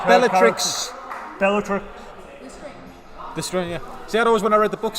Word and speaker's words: Lestrange: Like Helena Bonham Carter in Harry Potter as Bellatrix Lestrange.